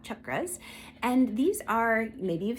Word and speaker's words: chakras: But for those of you who are new to this, some people pronounce it chakras, some people say chakras. I was taught chakras.